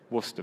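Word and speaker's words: Worcester: sort of logic another one one 2 3 Worster very good very good so now we're going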